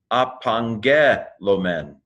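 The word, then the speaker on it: ἀπαγγέλλομεν: So gamma, gamma is pronounced like angel, anyway, so let me pronounce it. Apangelomen.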